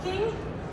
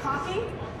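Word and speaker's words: caulking: I like to pick and it's about the pronunciation of that word um some people try to be proper and they say cing but you don't go for a walk and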